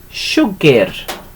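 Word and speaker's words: siwgr: It's written like that. Sugar. Okay, like that. But we tend to pronounce it as sugar.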